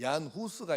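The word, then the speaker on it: Jan Hus: 하는데 체코 발음으로는 이게 영어로는 인데 그 체코 발음으로는 안이라 그래요 그 얀 후스가 있는데이 사람은 어 체코의 종교 개혁자 얼마나이 사람이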